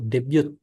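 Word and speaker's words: 데뷔: Debut itu debute. Debute. Yes, betul.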